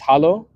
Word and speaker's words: Hallo: It's Hallo. That's how you say it in German.